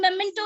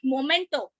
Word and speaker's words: memento: and sometimes now this memento is being given to anantam it is memento not momento chala salubi pronounce it